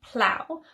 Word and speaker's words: plough: And the final pronunciation is ough, like in plough, which is a piece of farm equipment which is used to help plant seeds.